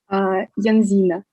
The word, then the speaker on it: Yansina: And here we have the next speaker, which is Yelizaveta Yansina, right? How do I pronounce your name correctly? Yelizaveta. Yes, it can be pronounced like this also. How do you pronounce your name? Yanzina.